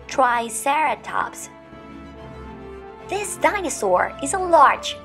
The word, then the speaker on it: triceratops: know it yes triceratops repeat with me try sarah tops triceratops this dinosaur is a